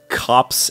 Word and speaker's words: copse: Is this what a copse is? Copse. How do you spell that?